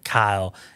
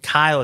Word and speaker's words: Keil: family that that is our last name is Kyle ke i l you have to say it pronounce it and spell it because nobody will